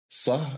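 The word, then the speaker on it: ص: So if you say sa, the tongue is basically down. It doesn't move. Sa. Not like se, when the tongue moves a little bit forward. With sa, I just pressing the upper, like the back upper side of my tongue against the upper side of my mouth, and then try to make an S sound.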